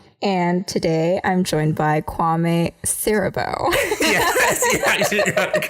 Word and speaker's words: Kwame Siriboe: I'm your host, Sandie Chang, and today I'm joined by Kwame Siriboe. Yes, you got it correct. Yes. I asked him how to pronounce that right before starting.